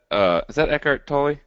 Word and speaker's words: Eckhart Tolle: The Power of Now, is that Eckhart Tolle? Yeah. Did I pronounce that correctly? Yeah, you did.